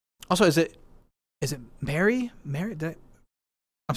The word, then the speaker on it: Mari: Is this for or so it's more like Mari?